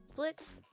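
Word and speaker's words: Blitzø: know what it is Blitz (the o is silent), an imp, has started up a company in hell called Immediate Murder Professionals, or I.M.P.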